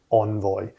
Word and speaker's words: Envoy: to be looking at something called envoy or i think as it's pronounced envoy but i'm going to be saying envoy i'll probably jump between the two and be really annoying but i'll probably say envoy for the most part so yes if the